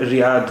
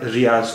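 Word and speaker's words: ریاض: इसे दवाद कहते हैं इसलिए अरबी के हिसाब से इसका उच्चारण रियाद हुआ रियाद उर्दू में इसका इस आखरी अक्षर को हम जो कहते हैं इसलिए इसका उर्दू के हिसाब से उच्चारण रियाज हुआ तो उर्दू में तो यह रियाज लिखा खा हुआ है लेकिन अरबी में यह रियाद बोला जाएगा और हिंदी और अंग्रेजी अखबारों में भी इसे रियाद ही लिखते हैं रियाद ही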